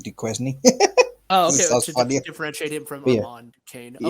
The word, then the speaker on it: Duquesne: somebody wait is it is duquesne his last name yeah but it's spelt d-u-k-u-e-s-n-e so i said de quezny differentiate him from kane